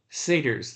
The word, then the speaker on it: satyrs: Satyrs, that's how you say it.